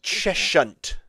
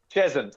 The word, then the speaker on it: Cheshunt: Cheshunt. Cheshunt. I used to play Cheshunt Tigers at football quite a lot. Cheshunt. You don't pronounce the H.